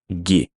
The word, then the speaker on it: gi: and is pronounced ha give sometimes also loses the ve ending and we pronounce it ghee so for example would